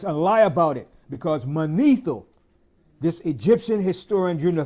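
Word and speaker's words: Manetho: to cover us and lie about it because mano this Egyptian historian during the 3rd Century BC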